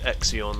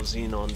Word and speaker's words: xenon: Like, whereas in any other garage, let me show you, is just Exion or Xenon, depending on how you want to pronounce it, which makes it with